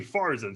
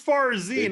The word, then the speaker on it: Farzin: i say my name and you're calling me farzen so i don't know if you're really a